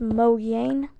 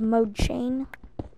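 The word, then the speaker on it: Mojang: if you didn't know it's actually pronounced Mo Yen instead of Mo chain I'm going to call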